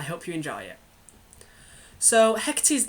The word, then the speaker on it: Hecate: Her name is Hecate. I hope you enjoy it. So Hecate's name means far off and others do pronounce it Hecate, but I've always found it easier to say Hecate.